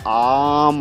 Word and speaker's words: ओम: दर्शक सोच रहे होंगे कि मैं ओम बोलने के बजाय आम ऑलमोस्ट क्यों बोल रहा हूँ, तो एक्चुअली सही उसका उच्चारण यही है। ओम बनता है आ उ और म से, और ये सिर्फ हमारा